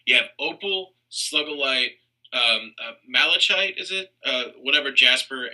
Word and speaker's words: Malachite: and nicki minaj and then you have uh malachite is how you pronounce it do you know um but like